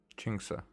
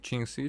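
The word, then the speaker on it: Qingce: Chingsa. So it's not Qingxi, Qingse. Huh. A lot of people, a lot of characters were pronouncing it Qingxi.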